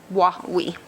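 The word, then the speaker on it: Wa Wee: That is spelled W-A space W-E-E, and it's a phonetic spelling from the Washoe because their language has a lot of different ticks and such, but that's the phonetic spelling, Wawi.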